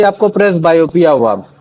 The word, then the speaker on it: presbyopia: जिसको मैं बोलता हूं प्रेस बायोपिया। क्या बोलते थे उसको? प्रेस बायोपिया।